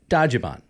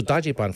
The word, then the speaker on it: Dajiban: So Dajiban, first of all, is the literal pronunciation of how the Japanese pronounce Dodge van.